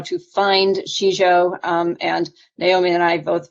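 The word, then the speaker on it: sijo: So in English, it is spelled S-I-J-O, and it's pronounced Shizho.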